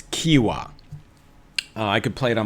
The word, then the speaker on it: Qiewa: to me on Instagram with the pronunciation it's Kiwa I could play it